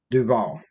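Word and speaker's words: Duvall: Adam Duval or Deval, how do you say that? Duval. Duval.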